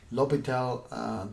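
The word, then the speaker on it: L'Hôpital: section 4.4 indeterminate forms and Obatala rule l'hopital the name has essence well we don't pronounce it just so you know we have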